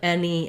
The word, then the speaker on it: any: these words the um the letter A says the vowel e like in men or then so words like any and many rhyme with the word Penny um and it would